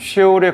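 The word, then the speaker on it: שאול: 원래 발음은 쉐올에 가까운 히브리어입니다.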